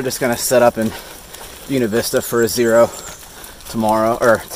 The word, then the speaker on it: Buena Vista: anyway to the priests this is the buena vista stop that's how the locals say it at least and we are